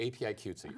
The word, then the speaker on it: APIQWTC: the queer woman and transgender Community thank you API cutesy I got it yeah now you've been on